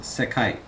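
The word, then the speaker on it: 世界: And it's pronounced sekai.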